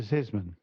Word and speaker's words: Zissman: Luisa Zissman.